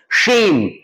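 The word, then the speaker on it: shame: से प्रैक्टिस करनी होगी शेम लवेश इसकी तो आदत हमें डालनी होगी है ना लवेश की right this is शेम सेम शेम सेम शेम सेम शेव शेव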